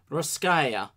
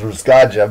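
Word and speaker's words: Russkaja: welcome to Once More With Feeling, Ruskaya Kosmopolitburo, the newest album from Ruskaya. Only recently found out that that's the proper pronunciation for that band's name. Oh, Ruskaya. I was just reading as Ruskaja, but yeah, that probably makes more sense.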